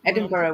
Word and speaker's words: Edinburgh: said it wrong Laur no it's Edinburgh we pronounce Edinburgh CH it's not how it's spelled no I know you